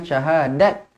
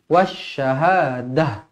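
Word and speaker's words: وَالشَّهَادَةِ: macam ni marbutah kalau kalau berhenti dia akan jadi huruf ha yang bertanda mati jadi bacanya Syahadah Kalau berhenti jangan syahadat ataupun Syahadah salah oke wasyahadah wasyahadah huarahmanurahim Kenapa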